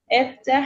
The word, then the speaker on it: افتح: तरह यहाँ पे है, और उसकी प्रोनाउंसिएशन ई होगी, इफ्तह अल-बाब.